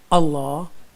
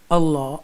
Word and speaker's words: Allah: And if the letter before the lam in the word Allah Almighty has a zair, then it will be pronounced with tarqiq.